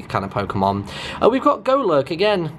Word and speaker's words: Golurk: We've got Golurk again. I'm fairly certain it's pronounced Golurk, but I like to say Golurk.